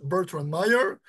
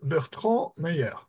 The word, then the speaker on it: Bertrand Meyer: So that's the pronunciation in English, Bertrand Meyer, but his name in French is Bertrand Meyer.